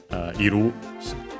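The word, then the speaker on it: いる: Something ga and then aru or iru iru unaccented the one to be as in to exist for anime things or people and animals.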